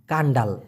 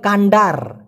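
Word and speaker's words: kandar: লিখেছিলেন ভাই নাসিক কান্ডাল মানে কি কান্ডাল আসলে কান্ডাল হবে না এটা হবে কান্ডার নাসি কান্ডার এই যে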